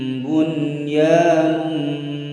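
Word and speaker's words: بُنْيَانٌ: Selanjutnya pada surah As-Saff ayat 4 terdapat kalimat bunyanun, nun sukun berhadapan dengan huruf ya dalam satu kalimat, harus dibaca dengan jelas. Contohnya, ka'annahum bunyanun marsus, bunyanun marsus.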